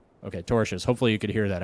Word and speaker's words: tortious: The Brander Group is suing EA Sports for, it's pronounced tortious, interference over the gaming company's attempt to retain